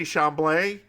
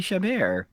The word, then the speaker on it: Chabert: How did you pronounce that last name? Lacey Chamblay? I said Chabert. Lacey Chambert? It's Lacey Chabert. Lacey Chabert. I think it's a French Canadian last name.